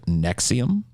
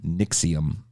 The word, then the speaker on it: NXIVM: you guys heard of nexium sorry i said that wrong nixium nixium is spelled nxivm by the way um and